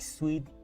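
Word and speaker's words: suite: Is pronounced like sweet, like the scruming candy.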